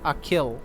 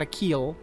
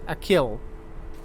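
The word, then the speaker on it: Achill: five counties in the province of canacht it's pronounced a kill okay so excuse me not a keel even though bridge had a long e this is a short though a kill all right there you go so you guys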